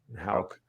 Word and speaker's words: Houck: Houck.